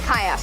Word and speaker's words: Chios: with you man kayos kayas okay we're going over to kayas that's the pronunciation all right let's do